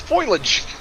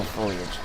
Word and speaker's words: foliage: moment at all this foilage well I I did say foilage I didn't say spoilage oh oh God it is uh it is foliage oh foliage see yet another word I've